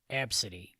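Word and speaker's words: Abcde: b c d e and i believe it's pronounced ab city ab city yes and just so you know this isn't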